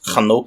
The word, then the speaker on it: Enoch: by the name of Enoch and some English translations have his name as hanok which is kind of amusing because hanok is actually the way that you would pronounce Enoch's name in Hebrew so I'm not sure